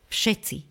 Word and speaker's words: všetci: vyslovíme inú hlásku napríklad všetci píšeme v ale vyslovujeme f babka píšeme B ale